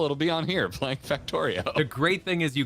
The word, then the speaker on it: Factorio: Factorio, I believe, is the correct way to say it.